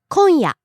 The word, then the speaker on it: 今夜: 今夜 Tonight. 今夜今夜 Falling on the second syllable and staying low.